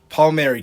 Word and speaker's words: Palmieri: have here a guest Kevin how do you pronounce her last name um Paul Mary kiffin Paul Mary from The Next Level universities also a host